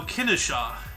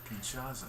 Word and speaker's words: Kinshasa: Henry Morton Stanley founded leopoldville which is now Kennesaw how do you pronounce it again Kinshasa he is right it is the capital of